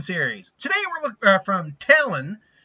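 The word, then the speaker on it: Talyn: Today we're looking from Talon. I think it's pronounced Talon. It's spelled T-A-L-Y-N, so I'm going to assume that's Talon, not Talon.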